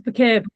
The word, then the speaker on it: Bucket: So, uh, hi bouquet, her name is spelled bucket.